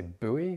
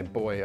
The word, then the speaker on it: buoy: This is just a buoy, or do Americans say buoy? That sounds really weird. We say buoy over here.